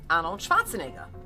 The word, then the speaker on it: Arnold Schwarzenegger: Okay, so I remember in one of these places in Austria, it's a skiing region, I met Arnold Schwarzenegger. I love that you pronounce his name correctly.